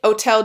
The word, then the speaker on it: hôtel: And it's in the Hôtel de Soubise. And French don't really say H mostly in their words, so the H is there, but it's silent.